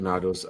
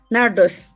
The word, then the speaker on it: Nardos: thank you thank you nados your name is pronounced as nados how do you pronounce your name nardos that's how you pronounce nardos nados thank you all